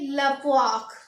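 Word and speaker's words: la poire: तो इसको पढ़ेंगे लपवाक।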